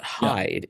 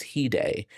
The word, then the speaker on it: Hide: stuff like that where it's not hide, it's Hee Day.